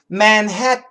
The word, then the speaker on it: Manhattan: Manhattan, Manhattan, Manhattan.